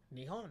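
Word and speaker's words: 日本: Nihon.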